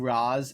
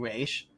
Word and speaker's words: Ra's: then, like, the League people calling him Raish, because I just think it sounds, like, more important, personally. I feel like he should just be pronounced one way by everyone.